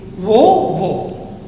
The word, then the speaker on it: aux: wo and wo. Same pronunciation.